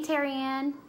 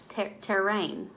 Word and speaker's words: Terrain: If I don't look closely enough, it looks like it's spelled Terrianne, but it's Terrain.